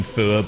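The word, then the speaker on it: Fuath: Kian 1134, and then you don't have to pronounce the TH in Fua, because that is the Irish word for hate.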